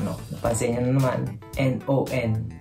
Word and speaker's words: non: Napansin niyo na naman, N-O-N. Hindi nila pronounce yung N. No. Parang kinakain nila yung huling letra nila.